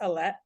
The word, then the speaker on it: Alae: my name is um so it's actually pronounced elette but don't worry about